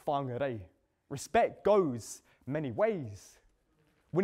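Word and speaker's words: Whangārei: It's not Whangarei, it's Whangarei.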